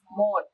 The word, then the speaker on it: Mos: So did you grow up thinking you were Mos? Not- How do you say? Modt. Modt.